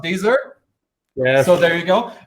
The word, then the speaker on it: Deezer: I think it's pronounced Deezer.